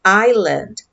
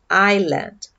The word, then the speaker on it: island: Nunca falem esse S. É island, island, tá?